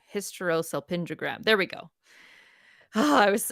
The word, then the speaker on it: hysterosalpingogram: hysterosalpingogram yeah sure no I said it wrong hysterosalpingogram there we go I was I was so